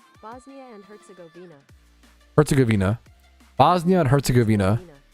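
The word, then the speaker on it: Herzegovina: Herzuggavina. Bosnia and Herzuggavina. Okay, that's the American pronun. What about British pronunciation?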